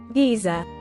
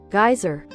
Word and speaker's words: geyser: Ruth gu to poor quite fascinating how it retained its pronunciation in Britain Giza while it changed in America geyser similar to how it